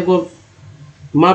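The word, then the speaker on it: calm: एल एम को म पढ़ते हैं क्योंकि एल यहाँ साइलेंट है तो यहाँ भी साइलेंट हो गया। काम पढ़ेंगे, काम पढ़ते हैं ना कि काल्म पढ़ते हैं।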